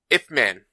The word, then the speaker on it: Ip Man: It's a IP Man Kung Fu movie. Yeah, IP. I think it's supposed to be Ip Man. I don't think it's IP Man, but it is spelled IP Man.